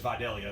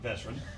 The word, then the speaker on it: Vidalia: secret already and say his name is Vidalia not veteran you're very familiar with